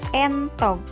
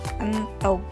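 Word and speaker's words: éntog: Jawabannya adalah E curek karena dibaca entog, bukan entog.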